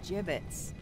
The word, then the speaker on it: gibbets: so hey look we had some gibbets leftover jib it's what it's pronounced jimin's well don't know anyone f-five looks